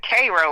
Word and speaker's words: Cairo: It's actually they pronounce it Cro like the ser.